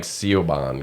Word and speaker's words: Siobhan: Like the first time I saw Siobhan spelled out, I went, okay, there's no hope for this. You know, right? Oh, listen. Why? How did they spell that? Siobhan. Yeah. Yeah. Oh, like Siobhan, kind of.